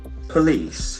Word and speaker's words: police: c e the letter O has got a sound police please let C has got a soft s sound here please Polie accent falls in the second sver so we have